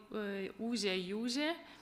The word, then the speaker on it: Ūžė jūžė: Ūžė, jūžė, which when you pronounce, you get those long oo, which can be the prolongation of the sound of a bell also. And the zh provides with the noisy content.